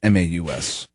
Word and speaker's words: Maus: John Mouse, Maus.